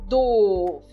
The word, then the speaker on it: doof: Doof. Então, novamente, eu marquei em azul a parte que nós enfatizamos. E esse O realmente ele é pronunciado prolongamente. Então, doof. Eu falo bem enfático.